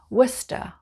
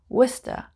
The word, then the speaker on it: Worcester: leicester's square number 14 worcester worcester a bit like the famous sauce you would ask for